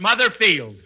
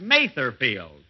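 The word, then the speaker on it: Mather Field: Here it is, Mother's Day, and we're at Mother Field. That's Matherfield. And although I pronounced it wrong last week.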